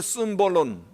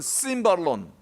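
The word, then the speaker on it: σύμβολον: 성경에서 말씀하는 상징은 심볼론 혹은 심발론, 이렇게 발음하는 헬라 말인데요, 여기서 심볼론에서 심볼이라는 의미,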